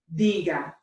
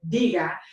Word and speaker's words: diga: Obviously the first one, diga, would be the correct way. So no matter what we do, if we have to, in any of these sentences, attach anything to the end of our usted formal command for the verb decir, diga, we always need to make sure that the emphasis is here, diga.